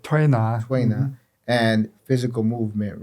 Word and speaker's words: Tuina: So it's not just acupuncture, it's acupuncture, herbs, Tuina. Am I saying it right? Tuina.